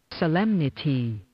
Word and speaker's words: Solemnity: We're going to hear that pronunciation. Here we go. Oh. Solemnity.